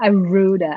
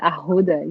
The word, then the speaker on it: arruda: I only learned last week that I've been saying it wrong my entire life. Oh, yeah, but now you know. It's not arruda, ahuda, yeah.